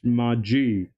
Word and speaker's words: Mudgee: we are at Mai I recently learned how to pronounce that that's Maji yeah seven is a check